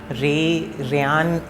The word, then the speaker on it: Rayyan: Rayyan is pronounced like Ray, like sun ka Ray, and Yan like dhaga wala Yan.